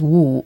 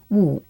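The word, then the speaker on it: 五: 5 is wu, which is cup again, but it doesn't sound like it. Like, wu, I don't know, wu, Woo. Maybe it does. And I think what we can use as a bridge for that is woo. Whoa. And you putting your hand out to be like, wait, stop. And that's 5.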